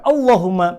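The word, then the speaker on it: اللهم: khas roh alias Jr berarti dapat dipastikan pengucapan lafal Allahumma pada ayat ini kita baca tipis qulillahumma panjangkan waroqot walaupun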